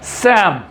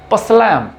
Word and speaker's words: psalm: So first word is सैम। This is PSALM. This is नॉट पसलैम, this is सैम।